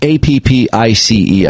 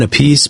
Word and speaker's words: Appice: Well, I've always pronounced it Carmine Appice, but a lot of people call him Carmine Appice. So I was going to say, it looks like it would be pronounced apathy.